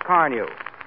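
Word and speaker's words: Carnu: Car New is spelled C-A-R-N-U.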